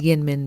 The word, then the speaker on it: YInMn: how to pronounce it some kind people in my comments informed me that it was Min blue so I'm going with that it was only discovered